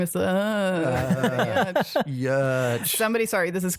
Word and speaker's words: Giertz: When I was on a show, I saw the transcript that they had to pronounce my name as Yetch. Yeah, Yach. Yeah. Yach. Okay. Like Y, schwa, TCH.